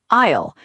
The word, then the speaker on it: aisle: Word 2, aisle. A-I-S-L-E. The long path between the shelves. Remember, the S is silent.